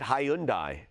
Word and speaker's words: Hyundai: have uh lafc australia here who's uh australians pronounce it hyundai okay we should take a poll on him